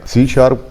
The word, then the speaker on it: C#: हस लिखा हुआ है इसको जो हम प्रोनाउंस करते हैं वो सी शार्प प्रोनाउंस